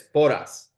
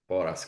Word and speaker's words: Porras: His name is Javier, and you said it's Porras. Yes. Boras, got it. Yeah. I always go with the pronunciations.